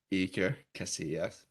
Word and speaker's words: Iker Casillas: how you pronounce that. Iker. Iker Casillas.